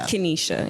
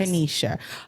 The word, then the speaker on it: Kennysha: And your name is pronounced Kennysha. Kennysha, yes. Kennysha.